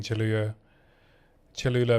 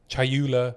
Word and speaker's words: Chayula: But yeah, maybe it's close between Cholula Monk and Chayula Monk. You're getting me saying it wrong now. Chayula Monk.